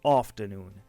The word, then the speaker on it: afternoon: Pour le mot suivant, afternoon, le A circonflexe vous indique un A grave, or, et long, or, afternoon. Et ici aussi, le R est muet, on l'écrit, mais on ne le prononce pas.